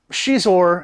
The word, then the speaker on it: Xizor: Xizor, and that's how you pronounce the name, I think that book says it, has this ability to produce pheromones and can control people.